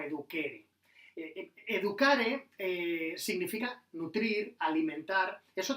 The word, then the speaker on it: educere: educare y de educere, educere, que en latín se pronunciaría, digo yo, se pronunciaría algo así como eduquere.